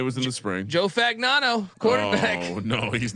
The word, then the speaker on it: Fagnano: Joe Fagnano, quarterback.